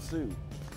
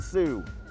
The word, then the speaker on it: Suh: Ndamukong Suh. I can't even pronounce that. we'll say that again? No clue. Ndamukong Suh. I don't know. S-U-H for Sue.